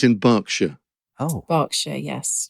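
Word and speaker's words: Berkshire: and not leester Square okay yes that's the pronunciation thing like it's in it's in barkshire oh barkshire yes barkshire okay hurricans hardly happen never mind um no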